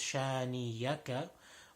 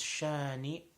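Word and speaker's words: شانئك: very simple shiny acha most common mistake in this is people think is shiny yucca but is shiny okay there is a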